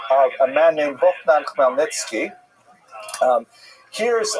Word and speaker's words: Khmelnytsky: Chmielnicki, it's completely wrong. This is just the way it's written in Polish, And if you understand Polish phonetics, you'll know that it's pronounced Khmelnytsky, which is also not so easy to pronounce, but that's not our job at any rate.